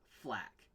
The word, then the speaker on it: FL4K: from fur for flak it's pronounced flak with the Centurion eye